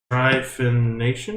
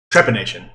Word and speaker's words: trepanation: Trephination. Is that how you say it? Trepanation.